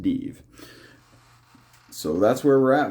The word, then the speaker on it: Dives: to go after uh deeve over here this this city right here looks like Dives pronounced de so that's where we're